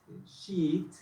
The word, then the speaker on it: sheet: Y ahí hasta esta continuation sheet, sheet, se pronuncia así porque tiene esta doble E, es una I de nosotros, pero más extensa.